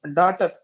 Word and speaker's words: daughter: letter is L next fourth one daughter so GH GH is the silent letters that means silent letters